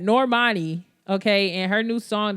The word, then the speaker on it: Normani: and i'm going to talk about my uh namani and normani let me say her name right normani okay and her new song that she came